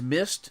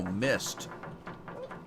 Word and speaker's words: Myst: that made the original mist now the original mist is spelled m-y-s-t and it came out